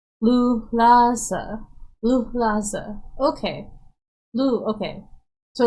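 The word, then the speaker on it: luhlaza: I would need this divided into syllables by dashes. Agreed, Minnie. So it's Lulaza.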